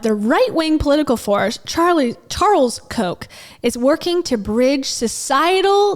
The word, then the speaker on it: Koch: this woman named Elizabeth Koch, and not from Coca-Cola, soda, but pronounced the same way.